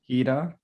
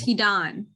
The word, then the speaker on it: Hidan: Hida, Oh, you're close. Hidan. It's more on the end. Hidan. Hida. That sounds Middle Eastern. That sounds Middle Eastern. Like Hidan Hussein.